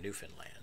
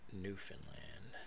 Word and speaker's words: Newfoundland: recent so Labrador and Newfoundland and you you Canadians will appreciate I am pronouncing Newfoundland correctly not newfound land or Newfoundland and that is because